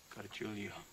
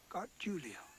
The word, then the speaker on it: Gargulio: kid how do you say your name again got Julio got Julio hear that bird God Julia